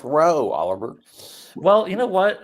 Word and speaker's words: Rao: Hello, the last name is pronounced Rowe, Oliver.